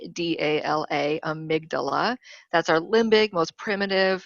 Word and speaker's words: amygdala: as jeff calls it amy for short because it's spelled amy g g-d-a-l-a amygdala that's our limbic most primitive it's called animalistic